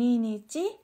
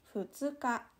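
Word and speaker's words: 二日: Terus, ini dibacanya hati-hati jangan sampai salah, bukan ninichi, tapi futsuka.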